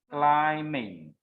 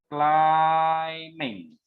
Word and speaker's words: climbing: It also happen when you say this one. Yeah, you pronounce it as climbing. So yeah, climbing. Yeah, you don't sound the b sound.